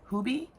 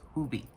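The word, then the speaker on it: Hobii: The second place I ordered from was Hubie. H O B I I. It's pronounced Hubie because that's how they pronounce it over there.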